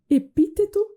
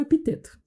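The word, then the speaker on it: Epicteto: filósofos do estoicismo e aqui você pode escolher a pronúncia que melhor comunicar a você epíteto ou epiteto qualquer pessoa que é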